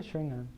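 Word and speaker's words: xaringan: explanation for how to use this package, and I thought it was Sharon. But maybe Shringan. Shringan. Shringan. What do you say? I say Shringan. Okay. That's how they pronounce it in the anime.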